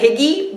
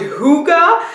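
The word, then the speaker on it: hygge: way it says well I thought it said Higgy but it says over here it's a mountain and you pronounce it hookah a quality of coziness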